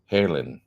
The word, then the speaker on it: Haarlem: HAARLEM. Yeah, like Van Halen.